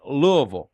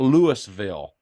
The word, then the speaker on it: Louisville: Mary, you notice I said Louisville. I know how to pronounce. It's not Louisville. It's it's Louisville.